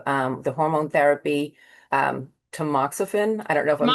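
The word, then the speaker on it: tamoxifen: fifth year of um the hormone therapy um tmoxifen.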